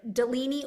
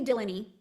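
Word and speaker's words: Delaney: So, It can be either Delini or Dylan. It's technically Delany. Um, but most people in her life call her Delini.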